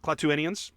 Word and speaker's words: Klatooinians: fans because we saw, is it Klatooinians or Klatooinians? I saw Klatooinians. Okay, Klatooinians. Okay. That's how they say it in the audiobooks from Legacy of the Force anyway.